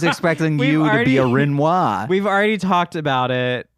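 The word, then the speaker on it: Rinoa: you pronounce her name renoa I always said renoa me too renoa it's renoa on this podcast yeah thank God you said that too I was I was expecting you to be a renoa we've already talked about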